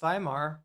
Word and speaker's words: Weimar: Antifa has been around in various iterations for almost a hundred years in some instances going back to the Weimar Republic in Germany. It's pronounced VHimar.